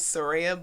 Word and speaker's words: Saraiah: Like, say it like, remember SUN-RAIAH when you say my name. You'll know that you're saying my name right, because you're not saying Rai, you're saying Ray.